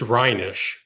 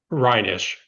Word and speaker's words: Reinisch: It's Rhinish. Reinish. Rhinish. And don't worry about mispronouncing it.